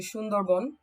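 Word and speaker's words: Sundarban: Bengali because I try and say the correct pronunciation um it's actually sundarbon which basically means um it's it's named after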